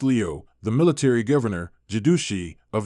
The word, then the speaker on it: 镠: Soon after Zhu Wen took the throne, Qianlu, pronounced Liu, the military governor, Jidushi,